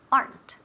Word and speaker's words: aren't: Remember aren't has one syllable, not two so we never say aren't. Ni aren't. Nunca, eso sería típico in Spanish. And we want to avoid evitar that typical Spanish pronunciation. We want aren't. Aren't. Una sílaba.